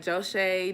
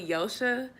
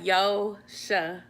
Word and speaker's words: Joche: But I mean, the way I spell my name is why people think my name is like Joche, Joche and stuff, but it's really Yo-sha.